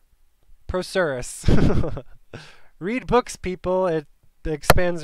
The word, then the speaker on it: procerus: if i was right frontalis and pro curious that's how i'm going to pronounce it prokeris pronunciation procerus process procerus okay so i was wrong procerus read books people it